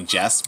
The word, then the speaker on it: Jest: oh it's just that but it's not it's actually jest but it actually sounds like it so it's like oh